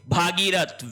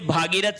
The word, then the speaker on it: भगीरथ: ठीक है फिर देखिए भागीरथ वेरी वेरी इंपॉर्टेंट वर्तनी की दृष्टि से भागीरथ शब्द गलत है तो शब्द क्या होगा भगीरथ होगा भगीरथ लेकिन ध्यान ध्यान रहे अगर भागीरथी आता है यह यहां पे सही है।